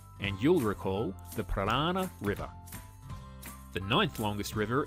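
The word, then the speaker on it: Paraná: The next longest after the Ob River is the Parana, which sounds like piranha, the dangerous fish.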